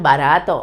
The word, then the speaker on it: barato: penultimate sea level uh this one barato okay in the same the penultimate syllable this one the same